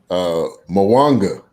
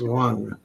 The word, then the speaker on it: Mwanga: Mwanga. I don't know. No. The M is silent. That's my brother. It's Wanga.